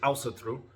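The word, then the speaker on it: Ásatrú: one is called the Practical heathens guide to Elsa through it tells you how to pronounce it in this book and it's pronounced also through most people will not say it like that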